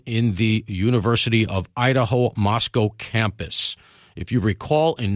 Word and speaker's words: Moscow: I were both out there we were in Moscow pronounced Moscow I'm not messing that up I said Moscow